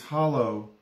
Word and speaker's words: hollow: It's hollow, meaning a depression, but they pronounce it holler with an R on the end.